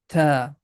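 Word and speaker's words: تاء: Like in English, we have T sound, but it's not like that. It's a little bit changed. Listen to me carefully. The name of this letter is ta.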